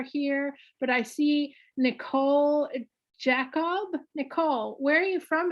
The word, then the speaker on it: Jakaub: Yes, I laugh because I have the H in my name and then my last name is pronounced Jacob.